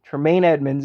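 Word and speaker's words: Tremaine Edmunds: already TR TR taine Edmonds yeah that's it taine Edmonds is how you pronounce it so I think he's going to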